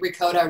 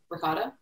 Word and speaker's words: ricotta: i always or ricotta i always say ricotta wrong it's ricotta ricotta um i think i say it wrong in english and italian but um i wanted